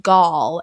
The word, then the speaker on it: Gal: The other thing I want to mention is his name is pronounced Gal. It's a Hebrew name.